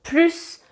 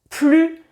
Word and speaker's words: plus: Souvent mes élèves me demandent comment faut-il prononcer le mot plus, puisque en effet il y a trois manières de prononcer ce mot. On peut dire plus, plus ou plus.